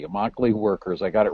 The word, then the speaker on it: Immokalee: called the Coalition of Immokalee Workers, rhymes with broccoli, Immokalee Workers, I got it right, a community organization that really deals with some 4,000 migrant farm workers.